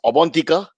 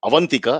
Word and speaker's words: Abantika: First and formally, it's Abantika. All my Bengali friends will scream at me. It is not Avantika, as we were told offline by our research team of 13 morons.